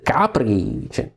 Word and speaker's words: Capri: I am saying these names for two reasons. First, this is the actual Italian pronunciation, so it is nice for me. I'm really happy to say your names like Avellino, Ariano, Irpino. This is the exact Italian pronunciation.